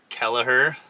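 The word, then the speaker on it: Kelliher: No, I grabbed, I ate some lunch in Kelleher. That's how you pronounce it.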